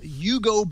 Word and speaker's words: UGO: It's called Yugo Bags. Have you heard this? No, like Yugo, like the car.